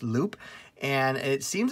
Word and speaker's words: Loupe: to look at is called loop um it looks like it's spelled lupe but what i what i gather is it's uh pronounced loop and it seems like